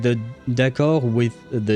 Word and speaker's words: d'accord: D'accord, I've never heard anyone pronounce the D at the end of d'accord. That, at the end of that word, the D is silent. We have a lot of silent letters in French.